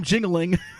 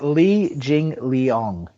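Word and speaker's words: Li Jingliang: thinking jingling probably by decision stop growing up jingling Zhang Liang Liang so so Blake's Blake's calling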